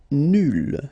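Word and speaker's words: nulle: Nul will become nul. So phonetically it's the same, but then you double the L and you put at the end. Okay, so nul and then nul. Phonetically it is the same thing.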